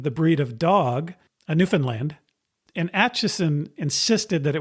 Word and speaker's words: Newfoundland: Anyway, emphasis is on the beginning of the word, so not on land, but is also not on the word found, which is truncated to fun in the current pronunciation.